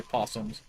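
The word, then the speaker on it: opossums: Go down this one because the O is silent.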